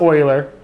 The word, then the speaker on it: Euler: then the Euler filter it's pronounced Euler I know weird I don't get it